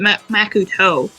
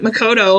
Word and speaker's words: Makoto: makoto knows about this why do you pronounce it makuto why can't you pronounce it makoto like everyone else i guess it's just